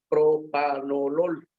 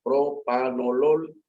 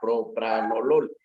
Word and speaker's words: propanolol: En español se debe pronunciar propanolol, que es así como aparece en español. Entonces, estamos en una plática en español, pues debería ser propanolol y no propranolol.